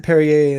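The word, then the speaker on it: Perrier: I think you pronounce it Perier in in the champagne version, too.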